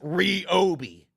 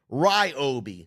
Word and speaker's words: Ryobi: fine here's a question for you is it pronounced Ry OB or is it reob the brand says it's R Obi but you know for years I was calling it Ryobi like Ryobi One Kenobi but I was told